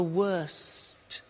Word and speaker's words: worst: T bad worse the worst don't forget to pronounce the T and then far the